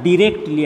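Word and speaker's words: directly: দেখো এখানে শব্দটা ডিরেক্টলি আমি বলেছি, তোমরা ডাইরেক্টলিও বলতে পারো, একটা আমেরিকান উচ্চারণ একটা ব্রিটিশ উচ্চারণ, কোনো ভেদাভেদ নেই, তুমি যে কোনোটা বলতে পারো।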